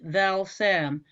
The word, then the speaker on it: Valsam: The name is spelled, as you say, Val Sam, but it's pronounced as if it was AU, so it would be Valsam.